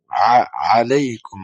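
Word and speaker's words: عليكم: মধ্যে শিখেছেন আসসালামু আলাইকুম আলাইকুম আইনি উচ্চারণ ঠিকভাবে করবেন আসসালামু আলাইকুম আহলাদিয়ারি আহলাদিয়ারি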